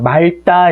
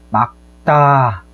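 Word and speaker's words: 맑다: 대부분의 학생들이 이 발음을 잘못해요. 말다 이렇게 발음하는 경우가 많은데 얘 말다가 아니에요. 얘는 막다입니다. 막다 이렇게 발음이 돼야 돼요.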